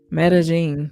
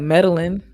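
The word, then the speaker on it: Medellín: Medellin. So it looks like Medellin, but they pronounce it Medellin.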